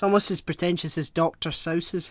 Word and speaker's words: Seuss: pretentious yeah it's almost as pretentious as dr sauces how the grinch stole christmas um no dr seuss off no no seriously that's how it's apparently according to his wikipedia page okay fine dr sauce right okay let me get over that i